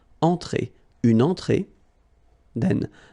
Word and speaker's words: entrée: Un apéritif, then une entrée, okay, remember, well, technically this final here is not pronounced, so phonetically it doesn't exist, so it's et, okay, entrée, remember, nasal here, entrée, une entrée, then un